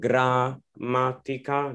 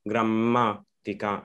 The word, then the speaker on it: grammatica: So like here, instead of saying grammatica, no, you say grammatica, grammatica. You really don't pronounce the A too much.